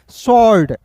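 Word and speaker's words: sword: फिर देखिए एस डब्ल्यू ओ आर डी शर्ड ठीक है शर्ड ओ ओ का उच्चारण नहीं करेंगे दोस्तों तल तलवार हो जाएगा ठीक है ना ठीक है जी यहां पे डब्ल्यू का उच्चारण नहीं करना है याद रखिएगा क्लियर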